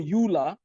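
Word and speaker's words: Euler: u the life of Leonard Ola but Ola spelled with the letter E L E R some people call him Ula he's considered to be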